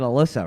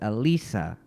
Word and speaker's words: Alyssa: Yeah, so in this game, so the first game, they said Alyssa, right? But in file 2, they pronounce it Alisa.